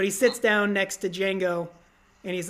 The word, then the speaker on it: Django: sits down next to Django and he's like what's your name Django can you spell it deejay a and Gio the D is silent and he looks at